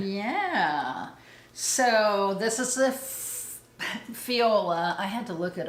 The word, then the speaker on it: Fjolla: So this is the Fjolla. I had to look it up and make sure I was pronouncing it correctly, and it said it.